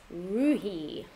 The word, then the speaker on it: Roohi: Roohi. Oh, I thought it said Rooney. Is it Roohi or Rooney? No, now it's Roohi. Yeah, it is Roohi.